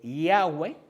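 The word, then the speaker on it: Yahweh: El tentagramón eh Yahweeh sí se puede pronunciar.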